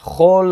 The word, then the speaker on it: כל: Aqui não é kol, mas chol. Por quê? De novo, porque a palavra anterior, no caso, nafza, termina com uma sílaba aberta, com uma vogal.